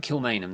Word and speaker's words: Kilmainham: yes yeah um absolutely i'm uh it was kill main and kill main um hang on am i getting this right kilmainham that's how you pronounce it where the um the 14 leaders